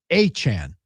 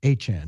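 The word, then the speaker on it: Etienne: Uh and the graphic said his he he wants his last name pronounced Achan. ATN Achan.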